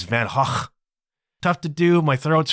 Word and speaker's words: Van Gogh: There's this traveling thing, Van Gogh, better known to you and me as Van Gogh. That's how we say it, but apparently the Dutch pronunciation is Van Gogh.